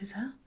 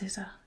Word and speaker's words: SZA: The answer is SZA, but I'm sure it's pronounced SZA, I think, if I'm right. I don't really listen to her music, but I think that's SZA, isn't it?